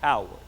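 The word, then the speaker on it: Haworth: for life was Howard it looks like Hayworth it is pronounced Howard where is it it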